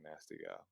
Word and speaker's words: Nasty: don't know why I feel so funny saying nasty that's how it's pronounced that's how it's pronounced apparently as the